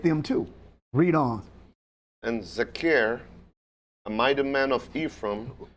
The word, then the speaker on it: Zechariah: How you pronounce it, sir? Zechariah. Zechariah.